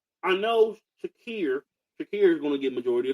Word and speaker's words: Shakir: I don't want to get the name wrong. Shakir, Amari Cooper, and you got Curtis Samuel.